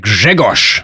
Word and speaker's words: Grzegorz: ż Like in the name Grzegorz. You may have noticed I pronounced it differently from how it's written. At the end of a word, voiced consonants become devoiced, but the spelling stays the same.